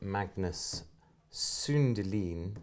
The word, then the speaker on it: Magnus Sundelin: Hey folks, so we're here today with Magnus Sundelin. Yeah, correctly pronounced.